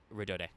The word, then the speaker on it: Rhodode: And I should actually double-check how to pronounce this, because I think this is Trickstar Rodode, but I'm not sure. Let me actually... yeah, it's she's named after rhododendron, so yeah, it would be Rodode.